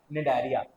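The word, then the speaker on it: Cnidaria: Coelenterata is also called as निडरिया। ये सी silent रहता है बेटा। Okay? So don't get confused.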